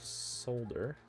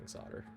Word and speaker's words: solder: we need more solder i'm gonna probably end up saying solder so sorry in advance you guys can yell at me i know it's solder there is an l we will say it correctly especially because i know